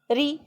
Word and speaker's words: ऋ: और हिंदी में इसका उच्चारण री, रा पे छोटी ई की मात्रा जब हम लगा देते हैं ना, इसका उच्चारण हम इस तरह से करते हैं, री के तरह से करते हैं।